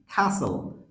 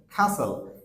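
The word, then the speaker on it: castle: টি যদি পাশাপাশি থাকে সেই ক্ষেত্রে টি এর উচ্চারণ হয় না সো যেরকম খাসল খাসেল খাসেল সো ইন্টারেস্টিংলি এখানে টি এবং এস পাশাপাশি আছে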